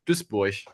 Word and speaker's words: Duisburg: If you want to pronounce it correctly, it's Duisburg. Duisburg.